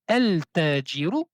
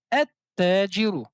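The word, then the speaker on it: التاجر: Donc dans ce cas-ci, on ne va pas prononcer le lam du alif et lam, mais on va prononcer deux fois la lettre T. On ne dit pas el tajiru, mais on dit at tajiru.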